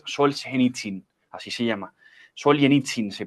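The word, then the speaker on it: Солженицын: escritor ruso Alexander sols gitsin así se llama sol yen itzin se pronuncia sol yen itzin lo pueden buscar en en internet y vale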